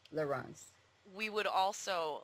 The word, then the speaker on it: Laurens: French pronunciation Lauren and his is the Dutch pronunciation laurance laurance we would also like